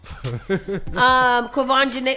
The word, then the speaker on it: Quvenzhané: Quvenzhané.